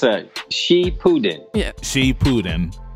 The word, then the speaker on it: Shippuden: for some time now and she put it shapuden did i say it wrong it's uh she putin yeah she putin because they like they're